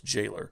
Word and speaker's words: Galer: two is against Jailer it's spelled Galer in the manual but it's not Gaylor it's Jailer he's a hideous fat man